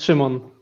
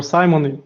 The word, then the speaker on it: Szymon: it's Szymon, yeah, or Simon. Yeah, it depends on how you like.